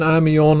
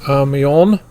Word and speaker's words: Amiens: The German Army-on railgun. If you want to do more research on the Army-on railgun, it is spelled AMIENS.